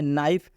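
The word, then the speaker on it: knife: तरह यह भी है नाइफ नाइफ का मतलब होता है चाकू नाइफ में भी के आया है के के बाद से एन आया है इसलिए के साइलेंट हो चुका है यहां पे बिल्कुल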